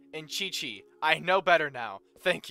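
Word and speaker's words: Qiqi: kind of adds to the charm speaking of mispronunciations actually um I wanted to also say it's kaching and Chichi I know better now thank you and that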